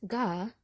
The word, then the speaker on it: Gam: Pronounced, 'gah', Gam resembles the foot of a stick figure drawing.